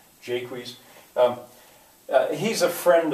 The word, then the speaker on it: Jaques: but I I think maybe it's supposed to be pronounced as if it were English Jaques um uh he's a